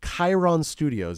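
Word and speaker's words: Cheiron Studios: They were connected with a production duo, Dennis Pop and his protege, Max Martin, at the legendary Sharon Studios. Cheron Studios, Chiron Studios is how you pronounce it.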